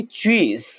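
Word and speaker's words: cheese: English में चीज कहेंगे यहां पर हमने एस की साउंड को लेके नहीं हैना बल्कि जो जड की साउंड है वो आएगी चीज पनीर अंडे को इंग्लिश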